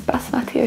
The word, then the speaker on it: basmati: Is basmati okay? I hope it's okay. - What rice? Basmati, basmati.